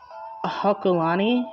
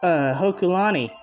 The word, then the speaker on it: Hokulani: I kept mixing the K and the L. Hokulani? Mount Hokulani? I think that's how it's pronounced.